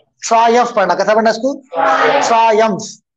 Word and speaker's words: Triumph: Okay, how do pronounce this word? Triumph पढ़ना, कैसा पढ़ना इसको? Triumph.